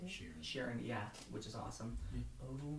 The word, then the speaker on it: Sheeran: Sheeran, yeah, which is awesome.